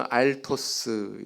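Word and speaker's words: ἄρτος: 이거는 헬라어 단어 알토스 이렇게 발음을 합니다.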